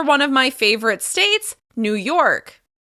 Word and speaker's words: New York: Here's another one of my favorite states, New York. New York. As you can hear, we're stressing the second word, York.